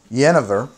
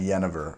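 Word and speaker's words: jenever: of that jennifer and jenniver i don't know i've heard pronounced both ways i think that honestly one is the dutch tradition or the dutch pronunciation and one is the english pronunciation i already thought i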